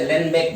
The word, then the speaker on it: Uhlenbeck: बहुत मुश्किल होता है, इसे लेनबेक बोलेंगे। हाँ, क्या है? ये यू किस लिए यू एच साइलेंट है?